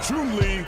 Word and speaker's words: Chun-Li: Finally, her name in English is pronounced as in Chinese. Chun-Li wins!